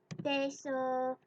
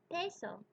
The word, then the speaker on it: peso: when I noticed that I could not pronounce the word peso. Peso. I heard someone say it, peso, and I tried to say it something like this, peso, peso, and I knew that it just didn't sound right, but I didn't know why.